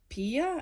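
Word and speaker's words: Peia: So there was a beautiful song also I wanted to share, and it is by Blessed, or it's by Pia. I think that's how you say it.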